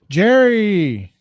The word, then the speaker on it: Gerry: Jerry. Well, it's pronounced Gary back then, but his name got transformed to Jerry.